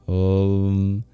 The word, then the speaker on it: Om: There's the O and the A. These are all long vowels, which you'll find in Om and Pataye.